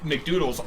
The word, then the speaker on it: McDoodles: Yeah, but Mcdoodles also, or sorry, I am told it's pronounced McDoodles, had to teleport as well.